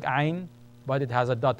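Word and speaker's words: ع: The next one is called ayn. This one that you're looking at is ayn, ayn. Contraction of your throat. Ayn, it's a glottal sound. Ayn, ah, ah. Ayn, ah. Ghain, ghain. Shaped just like ayn, but it has a dot above.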